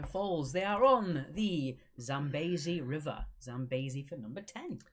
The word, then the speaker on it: Zambezi: They are on the Zambezi River. Zambezi for number 10. Zambezi. Zambezi. Zambezi. No, Zambezi. It's an E sounding Zambezi.